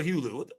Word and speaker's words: Hulu: Is it Hulu or Hulu? Which one is it, man? Man, they don't even fucking matter, man. You said it right the first time.